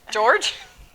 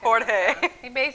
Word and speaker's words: Jorge: George? George Mascanosa. Jorge. His name's on Biscayne Boulevard. A very wealthy Cuban family out of Florida, I don't know how to but spell it. they privately financed our soccer stadium. So I'm so excited. So excited about our soccer stadium. Oh, it's Jorge Mascanosa.